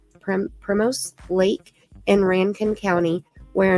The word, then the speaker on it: Primos: am so bad at pronouncing things OMG okay it's spelled p r i m o Prim Primos Lake in Ranken County where an old May